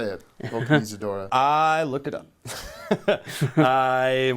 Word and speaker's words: Vulcanizadora: I can't even pronounce it. Vulcanizadora. How do you know how to say it? Vulcanizadora.